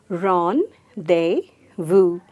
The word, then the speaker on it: rendezvous: They, just eliminate the Z sound and eliminate the S sound and just say vous. So let's say it together. Ron, they, vous. I love to have my rendezvous with you.